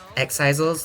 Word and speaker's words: Exisal: take over the game exisal that's how it's pronounced is that not how I've been pronouncing it X and that's it's Exel is it Exel or exisal welcome in my name